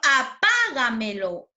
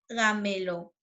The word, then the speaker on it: apágamelo: Como el ejemplo, apágamelo, apágamelo, ¿no? Si nosotros ubicamos, ¿no? La posición de las sílabas, última, penúltima, antepenúltima, antes de la antepenúltima, ¿cierto? Es una palabra sobre esdrújula y lleva tilde, ¿cierto?